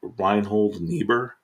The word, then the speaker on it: Reinhold Niebuhr: Number 1, I'm going to butcher the guy's name. I think it's Reinhold Niebuhr.